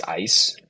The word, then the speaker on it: Ise: Her name is Ice. It's spelled ISE.